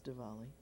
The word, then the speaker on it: Diwali: It's either spelled with a W or a V. Uh-huh. Usually a W, but it's Diwali.